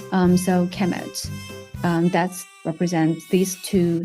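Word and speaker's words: Kemet: uh it will be the noun will be pronounced a chemet so so uh Egyptians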